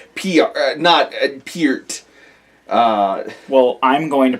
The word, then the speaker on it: Peart: Well, it's like how we just realized that we've been saying Neil Peart's name wrong for the last however many years. Oh my god! And I feel terrible. It's Peart.